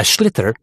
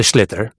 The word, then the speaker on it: sliotar: this ball called a sliotar, that's s l i o t a r. So, it's not spelled the way it's pronounced.